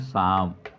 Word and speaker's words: psalm: क्या पढ़ा जाता है, इसको पढ़ा जाता है शाम, मतलब भजन होता है।